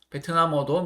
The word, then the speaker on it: 베트남어: 뭐 베트남어 베트남어도 미음 받침이 위로 올라가겠죠. 베트남어 그죠?